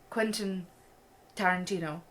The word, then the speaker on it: Quentin Tarantino: By, I don't know how to pronounce his name, Quentin Tarantino? Alright, okay, I can educate you. Yeah. It's Quentin Tarantino.